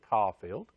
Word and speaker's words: Coffield: ours and our music minister and director, Christian Coffield. That's the right way to pronounce it, Coffield.